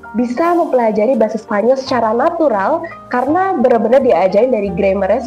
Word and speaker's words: natural: You want to think how is it written and pronounce the letters as they are. So how do you think you would say natural in Spanish? Natural. Natural. Good, that's a T. So you pronounce a T.